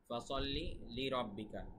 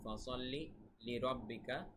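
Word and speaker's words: فَصَلِّ لِرَبِّكَ: ফাসাল্লি লিরাব্বিকা শব্দটা কিন্তু এরকম, ফাসাল্লি লিরাব্বিকা ওয়ানহার। ফাসাল্লি সদের উচ্চারণ খেয়াল রাখবেন, লিরাব্বিকা ওয়ানহার হায়ের উচ্চারণ খেয়াল রাখবেন।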